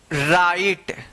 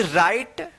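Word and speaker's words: right: उच्चारण होता है और जी एच का कोई उच्चारण नहीं होता है यानी साइलेंट रहता है तो आर आई जी एच टी राइट एफ आई जी एच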